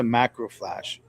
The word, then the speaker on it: macrophage: So, the first question is, what's a macrophage?